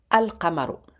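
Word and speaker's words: القمر: Donc si elle est on lui rajoute l'article donc il devient alqamaro. Alqamaro. Donc si vous voyez le ici, suivi, il est suivi d'une lettre lunaire, on prononce l'article.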